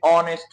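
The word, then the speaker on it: honest: याद रखिए ये जुमला है ही is dash ऑनेस्ट मैन। अब यहां आपने ए लगाना है या एन लगाना है। अब याद रखिए यहां ये जो एच है ये साइलेंट है। इसकी कोई आवाज नहीं है।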